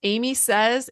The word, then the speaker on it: Aimee Says: what Amy Says is it's Amy Says and it's spelled differently though than you might think it's a i m